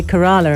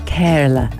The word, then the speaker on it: Kerala: the iq princess of now how do you pronounce kerala you see i i'm british so i went to say kerala and house was like no anna that's wrong